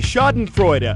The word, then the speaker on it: schadenfreude: ditch not in Friday the answer is B schadenfreude ax a German term for when someone laughs